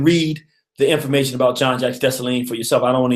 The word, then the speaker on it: Dessalines: She said, Dessalines. That's right. You can't just say Dessalines. You got to say Dessalines.